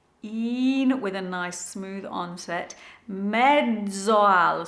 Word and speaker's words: mezzo al: Mezzoal, so the double Z in Italian is a DZ sound.